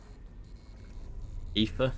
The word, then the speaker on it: Aoife: Aoife, yeah. There are some names like that that are spelt one way and then they're like pronunciations completely different.